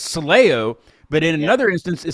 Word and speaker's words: Soleo: We say Soleo.